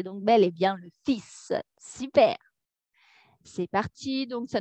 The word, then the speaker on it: fils: la prononciation parce que parfois les étudiants ont du mal avec la prononciation de ce mot il ya un an elle que l'on ne prononce pas et un ace que l'on prononcé donc bel et bien